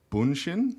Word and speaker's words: BUUNSHIN: It's pronounced BUUNSHIN? That's it. You nailed Okay, it. cool. It's confusing because he's Dutch, but it is a Japanese word.